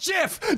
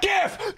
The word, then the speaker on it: GIF: Just like GIF is pronounced JIF? Okay. That's it! I'm looking it up! I'm done! It is pronounced JIF, not GIF!